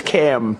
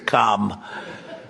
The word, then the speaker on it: Kamala: It's Cam, right? Cam, as opposed to Calm.